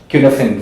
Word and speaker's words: Cynefin: So there's one example called Cunefin framework. It's spelled as CYNEFIN.